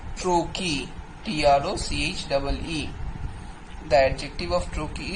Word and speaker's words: trochee: Similarly, if the first syllable is accented and the second syllable is unaccented, then it will be called trochee.